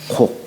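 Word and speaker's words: 告: 근데 이 고할 꽃자를 곡이라고 읽어요. 윗사람한테 얘기할 적에는 이제 아련다 이런 뜻이죠. 그죠? 고할 꽃자로 쓰는 게 아니라 윗사람한테 뭔가 저 어디 다녀오겠습니다. 나아갈 적에는 반드시 윗사람에게 고하는데 요걸 읽을 적에는 대개 곡이라고 읽어요.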